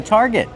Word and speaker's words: target: Use the R sound like car and far, tar, plus the hard g sound. Target. Not target, it's target.